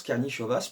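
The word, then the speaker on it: Karnišovas: suis content de moi c'est bel et bien comme ça que ça se prononce karni chevasse parce que hier donc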